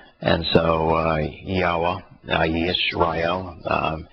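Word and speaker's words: ישראל: Yeah, because it's actually Yishrael. It's the proper pronunciation is with the Y. It's not. It's been transliterated into English with an I, but it is. It's the same letter as in yes as Yishrael, so it's just as in Yahowah.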